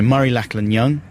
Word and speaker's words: Murray Lachlan Young: We're very pleased to be joined in our tiny outside broadcast cubicle by Murray Lachlan Young. Have I pronounced your name correctly there?